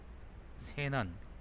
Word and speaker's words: 세난: 저게 설자인데, 말씀 설자인데, 이걸 세라고도 읽을 거예요. 세. 설이 아니라, 그쵸? 여기서는 그래서 세난이라고 읽는 게 맞지 않을까 싶은데, 일단 잠깐 보죠.